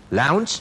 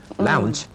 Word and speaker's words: lounge: อย่าไปออกเสียงยาวเป็น kitchen นะครับนั่นจะเป็น s s s s s h ไป แล้วก็มี bathroom นะฮะต้องเอาลิ้นออกมาด้วย เวลาอาบน้ำนะครับ lounge นะครับออกเสียงตัวสะกดออกเป็น ch นะครับ ch lounge ค่ะแล้วก็มี downstairs กับ upstairs ต้องมีตัว s เสมอนะคะเพราะว่าบันไดนี่จะมีหลายขั้นไงถ้ามีขั้นเดียวไม่เรียกบันได เรียกอะไร